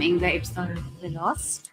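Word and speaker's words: Inga Ibsdóttir Lilleaas: Hi, I'm Inga Ibsdottir Lilas. Inga Ibsdottir Lilas, Sentimental Value.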